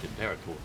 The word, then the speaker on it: imperator: was the impera well yes but we just pronounced it imperator m there is quite a few ships out